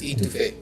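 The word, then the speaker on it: étouffée: It's French. It's Etouffee.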